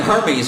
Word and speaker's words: Hermès: It's pronounced Hermès.